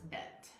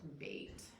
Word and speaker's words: bet: And that's bet. Or you also hear it pronounced bait.